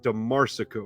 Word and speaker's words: DeMarsico: It's John DeMarsico, right? I'm saying it right every time? Nailed it, man.